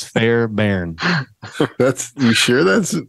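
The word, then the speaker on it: Fairbairn: name of Bruce Fairbury that's a tricky name because it's fair Barren that's you sure that's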